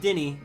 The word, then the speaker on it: Dennis: My name is uh Dennis, but it's pronounced Denny. This a silent s.